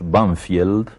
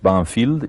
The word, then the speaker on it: Banfield: Sí, en uno de los suburbios de Buenos Aires, que nosotros pronunciamos Banfield, pero que tiene un nombre inglés, Banfield, y ese nombre inglés